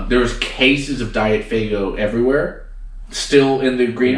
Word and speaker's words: Faygo: It's pronounced Faygo. Faygo, yeah.